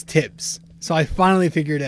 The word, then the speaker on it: Tibbs: So you pronounce the TH when you say his entire name, but when you fucking say his nickname, you just pronounce the T.